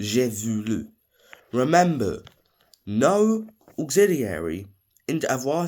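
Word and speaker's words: voulu: it had to be irregular so it's j vulu it's v o u l u julu remember no auxiliary in a tense changes at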